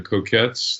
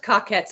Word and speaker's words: Cockettes: and performing with the coquettes that they grew uh you guys have heard of them they're pretty pretty it's pronounced cockettes actually yeah I screwed up white